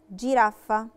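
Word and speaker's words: giraffa: جيرافة، جيرافة لا لتر جي وراها في لتر اي، لا فوكال اي نطقتها جي دولتشي فبقت جي، جيرافة يعني زرافة. غوريلا، غوريلا نطقتها غوريلا علشان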